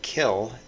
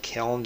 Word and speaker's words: kiln: for baking clay you'll notice that i'm saying kill and not kiln because that's the original pronunciation a lot of people don't know that and most people say it wrong but you could google